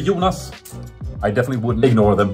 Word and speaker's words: Jonas: We spell it with one O, or we pronounce it with the long O, so Jonas. But like internationally, it would be like Jonas, I guess.